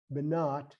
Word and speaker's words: Banat: B as in boy, N-A-I, and Banat, B-N-A-T, Banat, Kiyama, Kiyama. Now we can pronounce these words with the O sound too.